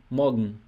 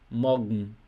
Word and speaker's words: morgen: especificamente sem essa letra E aqui, porque na pronúncia fica justamente assim, morgen, morgen, morgen, não fica morgen, entendeu?